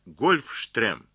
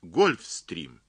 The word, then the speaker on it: Гольфстрим: неудовольствие во-первых сказал он не говорите марат гольфстрим это неправильно это слово английская его нужно произносить гольфстрим вот а во вторых